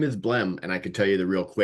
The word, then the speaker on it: Blehm: It's not a common name with that silent H at the end, but a lot of them changed when people came to the US and immigrated from wherever.